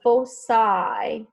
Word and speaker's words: foci: All right, so on this one right here, it says the foci or foci. I love the word foci. It has a much better ring to it, but foci is the correct way to pronounce that.